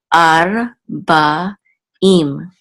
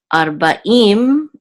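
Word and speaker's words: ארבעים: And this is a Bet with a Kamatz, which is Ba, and this Ayin is Sant with a Hirik, and the Yud and the Mem Sufi together to form the last syllable will say Im. So Ve, Ar, Ba, Im.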